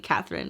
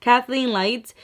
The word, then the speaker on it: Kathleenlights: Kathleen, I don't know why I was saying Catherine. What the hell? Kathleenlights.